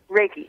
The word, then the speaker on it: Reiki: What was it, Reiki? Is that how you say it? Reiki, yeah.